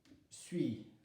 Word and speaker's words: suis: Terminaison, je suis. Le S ne se prononce pas.